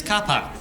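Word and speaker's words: car park: Kapa, all right, we don't pronounce the Rs, we don't have time. It's Kapa. You don't even finish the last word. It's just par Kapa.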